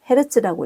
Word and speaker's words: Hz: 단위는 대문자 H, 소문자 G를 써서 HG를 쓰고 헤르츠라고 읽습니다.